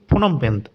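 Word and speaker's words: Phnom Penh: কম্বোডিয়ার হচ্ছে তোমাদের ঠিক ফোনম পেন, এরকম একটা উচ্চারণ রয়েছে।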